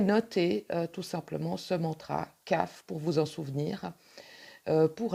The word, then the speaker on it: Kaf: Et voilà donc, comme je vous le disais tout à l'heure, la carte de la lettre hébraïque qui s'écrit Kaf, PH, et qui se prononce CAF, avec la couleur violette.